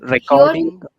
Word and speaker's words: recording: Recording. Very good. Recording. So, in the flow of the speech, the chord becomes card. So, we have to avoid that.